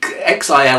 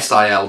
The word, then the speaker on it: Sil: called the inside of the xil or the sil depending on your dialect uh this comes from